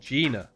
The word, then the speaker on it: Jinna: It's called Gina, so if you guys haven't seen it, I suggest you check it out. It's pretty cool. It's spelled Jinna.